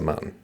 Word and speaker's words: mountain: Wait, don't say the T so mountain. Very good Andy. Yep. Oh, right. That's a classic Vermont pronunciation. I say mountain now.